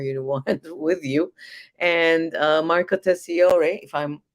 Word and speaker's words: Marco Tessiore: And Marco Tessiore, if I'm not mispronouncing it, You're is correct.